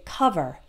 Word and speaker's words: cover: it's an O but we don't say over or call vert we say cover uh uh cover other